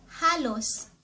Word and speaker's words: halos: Next word ay halos, or sa English almost or nearly.